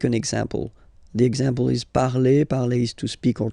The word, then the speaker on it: parle: So remember, we put it, okay, but then we don't really pronounce it.